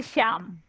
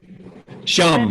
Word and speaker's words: Shyam: Yes, we say Sham. Shyam Yes.